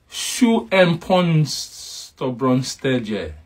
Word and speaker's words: schoenpoetsborsteltje: Schoenpoetsborsteltje.